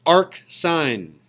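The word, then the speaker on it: arcsine: This is pronounced arc sine.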